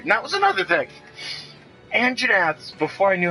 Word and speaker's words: Anjanath: say their goddamn name, I called them whatever I could try and pronounce. At one point going Anjadadjadjad, because I didn't know how to pronounce it. We called them Angelina Jolies for the longest time. And once I figured out it was Anjanath, I quit saying all